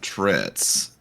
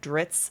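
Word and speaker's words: Drizzt: Um, the crazy thing about Dritz is that it rhymes with glitz, but he actually wasn't that glamorous.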